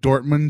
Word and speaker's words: Dortmund: expert all the way from Dortmund, Germany. Did I pronounce that right? Yeah, you did.